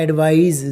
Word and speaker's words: advise: अब इसमें S आ गया तो इसका प्रोनाउंसिएशन क्या हो गया? एडवाइज। ज का साउंड आ गया, एडवाइज।